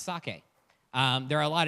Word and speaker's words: sake: a brewery uh and one important thing it's pronounce sake um there are a lot of different ways